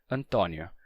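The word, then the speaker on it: António: acento circunflexo Antônio mas em Portugal esse mesmo nome se escreve com acento agudo e se pronuncia Antonio com o aberto Então nesse caso o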